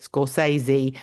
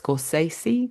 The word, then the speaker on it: Scorsese: Oh, after watching the Scorsesi, I'm trying to pronounce his name right cuz I've always said it in a lazy way. Scorsesei, but it's not, is it? It's Scorsesei, I think, with a more Italian accent.